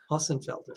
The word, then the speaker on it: Hossenfelder: How do you pronounce, since you can speak German fluently, how would you pronounce that name? Hossenfelder? Hossenfelder.